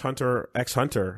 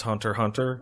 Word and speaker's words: Hunter x Hunter: get home and watch hunter x hunter so let's take some emails it's pronounced hunter hunter oh I'm sorry thanks